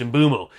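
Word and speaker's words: Mbeumo: to go Brian mumo we did think it was uo by the way but he pronounced his name himself on Premier League so it's mumo so mumo will be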